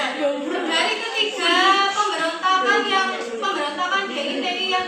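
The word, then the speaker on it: Daud Beureu'eh: Bahasa Aceh itu ya bacanya Daud Buru.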